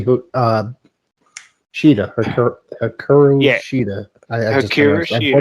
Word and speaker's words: Shida: I know certain brackets, the deep matchup versus Shira. I don't want to mispronounce her name. It's supposed to be Shida.